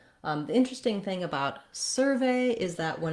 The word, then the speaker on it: survey: In the verb, I would say my ve is stressed and has that long clear vowel.